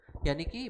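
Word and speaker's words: unique: Idea for the project, यानी कि मेरे पास एक यूनिक आइडिया है किस चीज़ के लिए, फॉर द प्रोजेक्ट। अब यहाँ देखो तो यूनिक, यू का उच्चारण हो रहा है लेकिन इसके साथ एन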